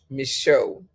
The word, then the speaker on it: Michaux: I mean, go online and just put up Louis, Leuis, Michaud, spelled like Michaux, bookstore.